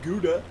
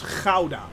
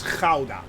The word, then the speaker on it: Gouda: it's it's like the hauda yes you actually pronounce it as ghauda and not gouda it's ghauda yeah for those that let's get this straight it's ghauda with a hard g in the back right